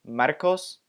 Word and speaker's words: Marcos: in Spanish they're pronounced Marcos and Horacio. Notice again that the letter A in Marcos and Horacio is not really a or ah, but it's more like a cross between a and ah.